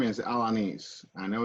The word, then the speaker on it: Alaniz: last name for real my last name is alanis i know it's a little difficult yes so